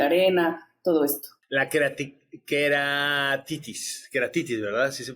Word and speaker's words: queratitis: Queratitis, ¿verdad? Así se pronuncia.